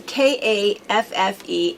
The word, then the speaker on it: Kaffe: about this before because it looks like it should be calf, but he says Kaffe, like safe is what he says. So it's Kaffe, but his fabric is very recognizable.